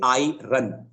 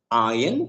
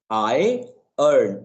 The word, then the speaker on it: iron: A lot of people, they say I run, Mhm. like I run, मैं दौड़ता हूँ, which is Yeah. incorrect. Is pronounced either iron, you can drop the I. r sound, or Yeah. I earn, EARN, like मैं कमाता हूँ, like that.